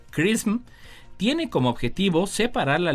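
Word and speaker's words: XRISM: de rayos X o el acrónimo xr y sm por sus siglas en inglés y que se pronuncia Christmas tiene como objetivo separar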